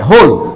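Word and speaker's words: whole: এখান থেকে উচ্চারণ হয় হোল।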